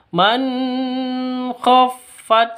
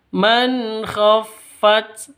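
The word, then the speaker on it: مَنْ خَفَّتْ: Cara bacanya jelas, terang karena bacaan izhar halqi. Ya, karena bacaan izhar halqi. Maka harus dijelas, harus jelas bacanya, terang. Man khoat nun matinya jelas, khnya juga jelas. Tidak boleh dengung, tidak boleh disentak. Man khoat salah. Man khoat itu juga salah. Yang betul.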